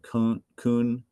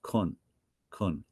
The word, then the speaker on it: kon: This apostrophe kind of cuts the sound off. We're not saying kun. It's kun.